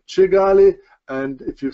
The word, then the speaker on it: Kigali: kick into will expel Kigali and is pronounced chee galley and if you say